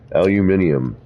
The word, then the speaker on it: aluminium: little easier pardon me aluminium is the proper way to say it actually all right that